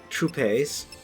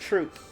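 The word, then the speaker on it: troupe: so say that again true pace I I don't think that's how you say that word t-r-o-u-p-e yeah I believe that is it's pronounced truth really yeah well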